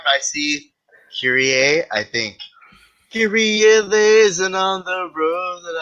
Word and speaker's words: Kyrie: If you know the Mr. song, you know how to pronounce it. Most people are saying they don't even know basketball, but somehow they keep saying Kyrie because I think they're thinking Kyrie Irving, which is fine too.